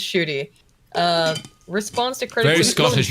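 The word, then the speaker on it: Ncuti: Let's call him Gatwa instead of Shoot, but his name is pronounced Shooty.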